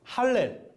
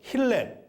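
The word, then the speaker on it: הלל: 시편의 내용 중에 하나님을 찬양하는 시편을 히브리어로 할렐 또는 힐렐, 발음에 따라서 힐렐이라고 부릅니다.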